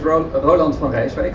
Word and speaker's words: Roland van Rijswijk: So my name is Roland van Rijswijk, I'll pronounce it properly, and actually my full